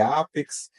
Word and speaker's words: APEX: Mas é Apex, é Apex. Desmistifica aí pra gente um pouco, Paulo. olha, eles optaram pela pronúncia em inglês.